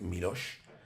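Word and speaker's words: Miloš: always difficult to pronounce some of the uh East European names, but I checked the pronunciation before starting the video and it is in fact Midosh Perunovik, not to be confused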